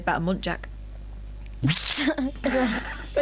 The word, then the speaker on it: muntjac: they said about a muntjac. Her name was Jacqueline, I forgot to say. Oh, what? Muntjac. I only found out recently it's a muntjac. Yes. I thought it was a monk jack.